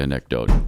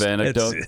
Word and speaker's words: anecdote: I I always say anecdote, don't you? I'm not even instead of aneote talk in this segment.